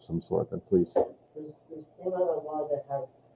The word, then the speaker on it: Klimaanlage: Does Klimaanlage have 3 A's in it, or is it It has 3 A's altogether. Yeah, there's a syllable break here, Klima, and then Anlage.